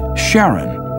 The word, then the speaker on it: Charon: Christie suggested the name Karen after the ferryman of Pluto's underworld in Greek mythology but preferred to pronounce it Charon more like his wife's name Charlene from the motions of